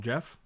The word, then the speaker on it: Geoff: Isn't Geoff pronounced Jeff?